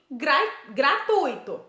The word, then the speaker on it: gratuito: iremos para anunciar gratuito pois oe não tem acento e sim gratuito o encontro do e doe formando ditongo sendo assim como uma paroxítonas